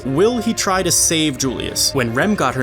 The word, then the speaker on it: Julius: Or, my bad, I guess now I should use the Spanish pronunciation. Julius.